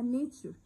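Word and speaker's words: nature: الطبيعة اسمها نيتشر، وما ننساش التي واليو والار والاي بنطقهم تشر، نيتشر.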